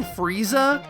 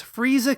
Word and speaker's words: Freeza: So, freezer in Japanese phonetics is furiza with a fu because there is no stand-alone f sound in Japanese.